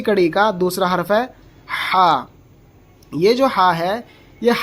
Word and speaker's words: ح: کی آواز آئے گی ہا ہا. اگر ہم نے اس کو ہا پڑھا تو سمجھو غلط ہے. صحیح تلفظ اس کا ہے ہا.